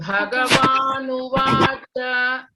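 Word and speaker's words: भगवानुवाच: that bha is aspirated one or mahaprana. Okay, you have to stress and then pronounce. Shri Bhagavanuvacha. Shri Bhaganuvacha. Again, cha you should not elongate. Okay, it's a short vowel.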